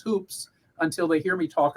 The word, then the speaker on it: Hoopes: to this will know the correct pronunciation my name and you'll you'll know that they're a little bit a little bit up on things uh but it rhymes with with good books or good looks uh or cookbooks uh but it but it but it's hoops um something else that